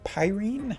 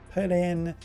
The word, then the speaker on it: Perene: And today we're going to be talking about Perene, Perine, as some people have told me it's apparently pronounced. I don't care, in the sense that I'm quite happy with calling her Perine, and like it's Perene, like the Japanese pronunciation, but we're not here to talk about that.